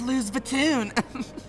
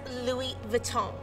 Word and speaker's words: Louis Vuitton: label walmart soundtrack or is it last season's lose vitoon it's pronounced louis vuitton you're such an idiot rhubarb cinnamon that is